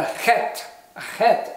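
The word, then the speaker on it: חית: who are speaking English this is called the het and you have to go back in your throat a bit for this to say hat hat and then finally we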